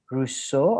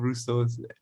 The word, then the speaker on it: Rousseau: She described Rousseau, herself like the philosopher, Rousseau? like the political philosopher. Right, okay. Yeah, Rousseau.